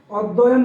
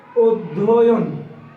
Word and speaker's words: অধ্যয়ন: অধ্যয়ন না, এটার প্রমিত উচ্চারণ হবে অধ্যয়ন। অধ্যয়ন।